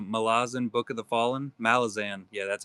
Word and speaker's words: Malazan: Malazan.